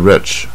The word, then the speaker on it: rich: The newspaper report was obviously slanted toward the rich.